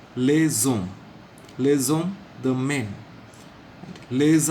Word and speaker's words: les hommes: The S will be pronounced as Z because the next word begins with a silent H. So it becomes les hommes.